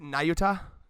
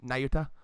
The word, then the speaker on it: Nayuta: I pronounced it Nayuta, like, Nayuta.